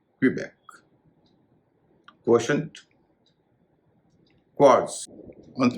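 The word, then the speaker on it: Quebec: Canada के प्रांत भी है इसे कई लोग क्यूबेक कहते हैं इसका सही उच्चारण है कबक क्श क्वास अंत में जड है उसका उच्चारण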